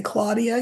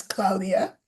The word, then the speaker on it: Claudia: I'm pronouncing it in the way that you would if you were Spanish speaking we would say Claudia here but it's Claudia Claudia Shin bam said